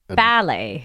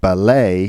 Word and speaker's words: ballet: yeah we say ballet ballet ballet in British English and ballet ballet in American English and it's funny because